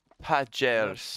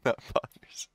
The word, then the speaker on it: pagers: Pagers. Poggers. It's actually pronounced pagers. Not poggers.